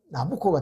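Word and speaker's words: Nabucco: 그 이름을 이탈리아 식으로 발음하면 나부코가 된다는 것이지요.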